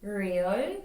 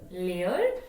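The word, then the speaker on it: 리을: But as we know, in Korean, there's not an R sound. It just how you pronounce the Lieul, depending on where it is in the word, is going to change how you form your mouth to make the sound. But still, there is no R in the Korean alphabet.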